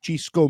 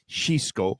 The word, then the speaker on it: Xisco: to pronounce it so because I thought it was shisco or Cisco but because he's from in uh because he's from the Balearic Islands it gets pronounced the lyrics it gets pronounced so it's chisco Munoz but it's disco in